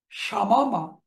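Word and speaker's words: شمّ: মারারা আমরা উচ্চারণ করব মাররা। শামামা, শাম্মা।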